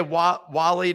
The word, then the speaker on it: Wale: that like they pay Wally dot swoosh well done well it's spelled Wale okay uh and I'm from DC so that's what what we how we say it there uh and then and